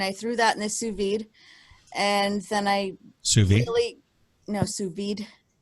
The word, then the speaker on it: sous vide: threw that in the sous vide, and then I sous vide. Sous vide. I'm not sure. Is the D pronounced or? Yes, it is. It's pronounced. Are you sure? I am positive.